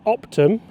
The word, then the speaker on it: OPTM: Would you pronounce it optimum?